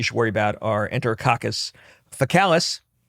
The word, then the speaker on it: faecalis: And gram-positives you're going to get from the community that you should worry about are Enterococcus faecalis, which is annoying that they pronounce that one with a hard C and then faecium, which